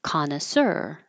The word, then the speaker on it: connoisseur: to practice that sound this word is from French so the stress is on the last syllable connoisseur and we're not saying it total French style but we're keeping the stress in the last syllable connoisseur uh